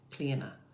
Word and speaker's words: Clíodhna: father like Niclef, O-D-H, the D-H is silent, N-A, Clíodhna.